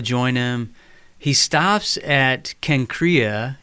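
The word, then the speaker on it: Cenchreae: He stops at Kenkrea. In Greek, this is pronounced Kenkreas, and this is the neighboring port, Corinth, because of its proximity to these two ports.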